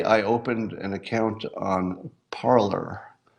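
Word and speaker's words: Parler: and it's actually pronounced parlor P AR le AR had it been a foreign word you would pronounce it the other way but it's pronounced parlor I don't know if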